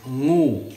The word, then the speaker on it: ngu: The word for snake in Thai is ngu, which is an NG sound, a diphthong, which is two consonants together that you pronounce from the back of your throat.